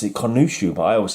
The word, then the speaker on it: Khonshu: So these Fist of Khonshu should be before this one.